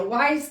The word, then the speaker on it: Wyze: A lot of people also tend to go with maybe a Wyze camera. It's spelled W-Y-Z-E.